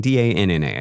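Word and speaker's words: Danna: Dana being D A N N A. I think that's I think that's Dana. Sure. Maybe Dana. Yeah. With the With the extra N. You have to pronounce the N longer.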